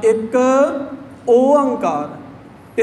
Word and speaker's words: एक ओंकार: जब हमने उच्चारण करना है एक को अलग से बोलना, एक ओंकार, इसके साथ आप शुद्ध उच्चारण कर पाएंगे।